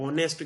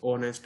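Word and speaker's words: honest: ऑनेस्ट के साथ, अब शुरू एच से हो रहा है लेकिन हमने पढ़ना इसे ऑनेस्ट है तो इसके साथ जो एन आएगा।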